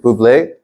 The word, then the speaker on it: Bublé: Michael Bublé, that's how you say his name, Bublé.